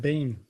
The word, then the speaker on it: Biehn: Michael Biehn is how I always have heard it pronounced. Yeah, I've always heard it Bean.